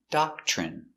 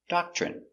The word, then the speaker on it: doctrine: doc CH doc CH remember when you have TR together it makes the chicken sound CH so again doc CH doc ch ER doctor doctor I doct Doctrine Doctrine they follow a strict